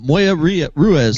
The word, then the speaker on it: Moya Ruiz: Uh, uh, Moya Ria Ruez cigars.